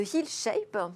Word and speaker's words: HealShape: Alors aujourd'hui, vous avez jeté votre dévolu sur Sophie Braque de la Perrière, qui est PDG, cofondatrice de HealShape. C'est comme ça qu'on prononce ?